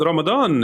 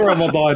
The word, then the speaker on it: Ramadan: like even the word even the word ramadan is like one of those words that's pronounced differently in that the d sound in that is a z sound in certain dialects in certain rural dialects uh also in the